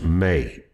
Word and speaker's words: me: Now, you can look up articles about this, but there's a tablets that they're calling um it's spelled like me, but it's pronounced May, m e h.